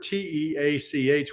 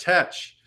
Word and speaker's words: Teach: this is that the the word t-e-a-c-h would not have been pronounced teach in 1718. it would have been pronounced touch um 1718 was on the tail end of uh the Great Vowel Shift from mental English to Modern English and the the letters